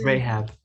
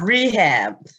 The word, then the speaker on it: Rahab: It's Rahab. It's not rehab.